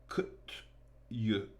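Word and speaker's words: Kutuzov: an aide, said Bolkonsky, saying Kutyuzov like a Frenchman rather than Kutyuzov as a Frenchman rather than Kutsov. There's an accent on the O in the French man's way as opposed to the accent on the U.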